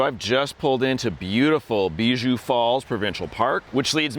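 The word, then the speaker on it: Bijoux: And I was like, "Oh, it's pronounced Beiju. Thank you so much. You mean the French word for jewel cuz it's full of beautiful colorful rocks at the bottom."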